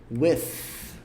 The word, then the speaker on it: with: É assim, ó, with, pronúncia dele, with. Esse TH aqui é feito com a pontinha da língua entre os dentes. With. Aí você põe a pontinha da língua entre os dentes e sopra.